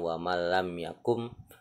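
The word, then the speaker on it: وَمَن لَّمْ يَحْكُم: Jadi mereka menggunakan surat Al-Maidah ayat ke-44, wa malam yakun ya, wa malam yakum, tulisannya waman itu sebenarnya bacanya wa malam yakum bima anjalallah fauraika umur kafirun gitu ya.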